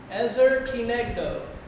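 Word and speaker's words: עזר כנגדו: ให้ทุกคนออกเสียงตาม Ezer. Ezer. Ezer. Ezer. Ki. Ki. Neg. Neg. Do. Do. Ezer kinegdo. Ezra Kinecto.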